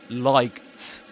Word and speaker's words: liked: We pronounce this as liked. Liked. Why? Because the C sound in English is voiceless. You say C. No vibration in the vocal bones.